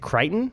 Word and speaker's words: Crichton: But I am not certain if you have read the, how do you say, is it Crichton? Yeah, Crichton.